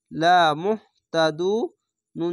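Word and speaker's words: لمهتدون: তা যাবার তা, লা মুহ তা, দাল হাফেজ দু, লা মুহ তা দু। নুন যাবার না, লা মুহ তা দু না। এখানে যদি থামেন তাহলে এই না উচ্চারণ না হয়ে এরকম হবে, লা মুহতাদুন।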